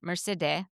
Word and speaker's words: Mercede: Mercede. Mercede. That's her real Persian way to say her name.